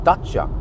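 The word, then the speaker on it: Dacia: the and thereof no but it's dacha or something dacha that's what that's how you pronounce it so just have to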